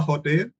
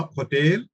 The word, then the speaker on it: hotel: So H could be silent. There are options to you pronounce it both the ways. A hotel, I am pronouncing H, a hotel, which means a hotel. Whereas if I don't pronounce H, if it's silent, and hotel. So both are right.